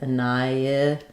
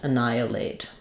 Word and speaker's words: annihilate: Um, so the ni the h is silent and then we have an i. Anni. Um, because we're moving from the i to the i, we have a little bit of a y sound linking the i to the i. annihilate. Um, and then we have our eight sound at the end. Annihilate. Annihilate. So, clear vowel here at the end even though it's unstressed.